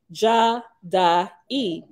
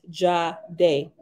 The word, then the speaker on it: Jade: In later biblical Hebrew, a version of this name was pronounced Jah-da-e, but in Nazarene ancient vibration, which is the pronunciation we use, it is pronounced Jade.